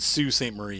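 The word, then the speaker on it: Sault Ste. Marie: text and drive it's so pretty yeah they pronounced it sue st. Marie you're soo because you know that you guys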